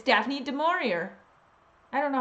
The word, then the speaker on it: Du Maurier: Du Maurier.